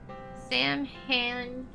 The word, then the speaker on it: Samhain: Sam Han, pronounced Samhain in English, is derivative from an old Irish salmon, or Samhain, both referring to the eve of November 1st, when the